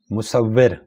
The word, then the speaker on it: مصور: یہاں پر 4 آپشنز دیے گئے ہیں، ان چاروں میں سے بی والا آپشن درست ہے، مصور۔ چھم چھم گرامر کی روح سے کیا ہے؟